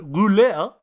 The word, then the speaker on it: rouler: The term roulade originates from the French word rouler, which means to roll. Sorry. May, can you confirm? Can you pronounce that again, Pierce?